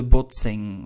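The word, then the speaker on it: botsing: we call that the bot sing all right do bear in mind the pronunciation the n and the g at the end are pronounced exactly the same like in english wing sing thing the boxing right we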